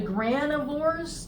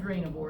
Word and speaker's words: granivore: then you have the granivores notice how that's spelled there's no I it's not granivore it's granivore and granivores eat seeds